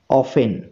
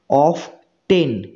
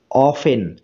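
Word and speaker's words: often: যেমন অফেন, অফেন। ঠিক আছে, তাহলে দেখো এখানে টি এর উচ্চারণ হচ্ছে না, টি এর উচ্চারণ হচ্ছে না। তাহলে এই টিটা হলো সাইলেন্ট লেটার। ঠিক আছে, অফ টেন, অফ টেন এইভাবে উচ্চারণ করলে উচ্চারণটা ভুল হবে।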